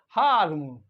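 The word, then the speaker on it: harm: आर एम हाम हाम हाम मींस नुकसान पहुंचाना हर्ड करना तो हाम हाम तो आर क्या हो गया गायब हो गया ब्रिटिश इंग्लिश में लेकिन अमेरिकन अमेरिकन इंग्लिश में हार्म हार्म फादर फादर और अमेरिकन इंग्लिश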